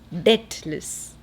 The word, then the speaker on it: debtless: This is deathless, that is debtless. There's a silent B there.